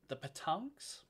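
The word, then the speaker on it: pétanque: Because the petanques, the little balls that you gotta chase, petanques.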